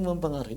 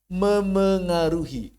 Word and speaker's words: memengaruhi: Memengaruhi. Luruh dia, hadzaf p-nya. Asal katanya pengaruh. Pengaruh. Ya kan? Kita tambah apa? Tambah me dan i. Bacanya apa? Mempengaruhi, bukan. Mempengaruhi juga bukan. Tapi memengaruhi.